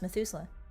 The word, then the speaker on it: Methuselah: Oh, it's pronounced Methuselah.